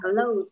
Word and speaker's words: clothes: Quần áo ấy, nó tận cùng âm Z. Tận cùng của nó là âm Z. Closer. Đọc là Closer.